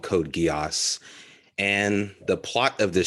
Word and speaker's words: Code Geass: show Code Geass and did I pronounce that correctly Code Geass sweet I got it right and yeah so feel